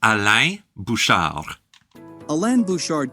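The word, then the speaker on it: Alain Bouchard: 4.5 billion okay um proper pronunciation of his name is aliar a lan buard co-founded convenience store conglomerate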